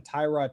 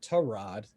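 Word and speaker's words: Tyrod: he was i mean almost dead set on tyra taylor torrad actually let me pronounce his name correctly still being the starter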